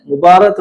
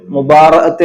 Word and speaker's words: മുബാറഅത്ത്: ആ കരാർ മറ്റൊരു വിവാഹമോചന കരാറിലൂടെ വേർപെടുത്തുന്നതിനെയാണ് മുബാറത്ത് എന്ന് വിളിക്കുന്നത്. ശരിയായ ഉച്ചാരണം മുബാറഅത്ത് എന്നാണ്; നമ്മുടെ കോടതികളിൽ ഇതിനെ പലപ്പോഴും മുബാറ അല്ലെങ്കിൽ മുബാറത്ത് എന്ന് വിളിക്കുന്നു.